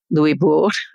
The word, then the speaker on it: Louisbourg: The fortress of Louisbourg did fall, Louisbourg, to try to stick to the French pronunciation, but was returned to the French.